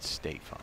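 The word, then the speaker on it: Stephan: to the 16th wow stefan stefan stefan staphon shot at 9 14 and i believe i asked him one time how he pronounces his first name and he said stay fun stay fun gosh look at that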